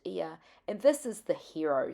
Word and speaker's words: Oia: Oia it's spelt, but it's pronounced Ia.